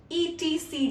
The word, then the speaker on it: etc.: You often see this one while reading stories or while reading a text, etc. dot. How do you pronounce it?